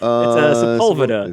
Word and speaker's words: Sepulveda: moved to town and they don't know how to say the names of the. I heard someone go, "It's on Sepulveda." Yeah, it's Sepulveda. Yeah. You meant Sepulveda, and I know meant you just got Sepulveda. here.